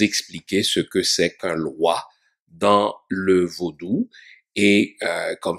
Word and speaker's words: loa: fond n'est ce pas qui s'écrit l oa ou en créole elle.w a donc il ne faut pas confondre ce mot avec eux l'autre mot qui prône qui se prononce de la même manière en français loi donc c'est autre chose